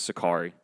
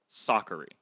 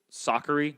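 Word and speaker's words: Sakkari: versus vondrasova kanta vs goff and tomlanovic versus sakari oh i'm sorry soccery because that's how we pronounce it now we've been pronouncing it wrong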